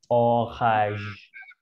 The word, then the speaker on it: orage: N-nya ini dihilangin. Bunyinya gimana? Aish. Orage. Orage. Orange. Orage. Betul. Orang Nah, Batak ya. iya Horas, iya betul. Horas. Orange. Orage ini artinya petir.